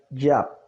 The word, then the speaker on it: Yah: esta escritura es incorrecta la pronunciación correcta porque el nombre empieza por la yot que es la la y sería ya que la forma corta